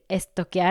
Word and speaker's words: stalkear: verb "to stalk someone" You can say "stalkear" (pronounced as estoquear) in Spanish even though it's more